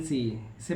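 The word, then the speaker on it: science: कब साइलेंट होता है एस के बाद सी आता है तो सी को पढ़ा नहीं जाता है तो जैसे एग्जांपल है एस सी ई एन टी इसे पढ़ेंगे Saint S सी आई एन सी इसे पढ़ेंगे साइंस एस सी ई एन ई इसे पढ़ेंगे सीन तो आई होप ये पॉइंट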